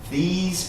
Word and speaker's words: These: And you want to make the sound of this S right here, the E is silent. The S sound is really strong here.